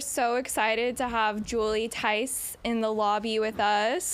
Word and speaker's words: Theis: we've been running around like maniacs today, but we're so excited to have Julie Theis in the lobby with us. The H is silent.